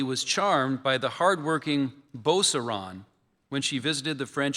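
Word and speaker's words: Beauceron: Sarah is spelled S E R A Y A. Boseron.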